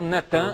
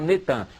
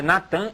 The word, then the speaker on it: Natan: No dia 4 de novembro de 2002, lança o nome do ex-primeiro-ministro de Al-Shorur de Israel, Natan, é Natan, eles já fizeram o sincretismo, botaram Netan, mas é Natan Yarro.